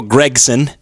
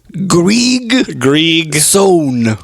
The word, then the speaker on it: Griegson: Gregson, am I pronouncing that correctly? No, you're not. Gregson? Could you say your name, please, for the folks back home? Griegson. Griegson. No. Griegson.